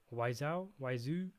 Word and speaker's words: Wiseau: How do you pronounce it? Wiseau.